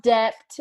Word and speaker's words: debt: something about debt, and he says debt like with a B. Yeah, I'm depth. like, the B is silent.